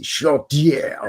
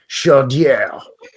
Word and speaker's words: Chaudière: Chaudière. Yeah, nice. Sounds like a French guy saying chowder. Chaudière. Anyway, Chaudière.